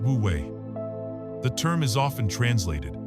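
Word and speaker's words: wu wei: This concept is called woue pronounced wooue.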